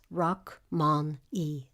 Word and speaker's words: Rachmaninoff: The correct pronunciation of the name as given by the composer is Rachmaninoff. The following conference was conducted in German.